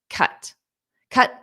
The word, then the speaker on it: cut: past simple cut, participle cut. Cut, cut, cut. And notice how I pronounce that with that very flat T. Cut, cut. So I don't really push out the sound.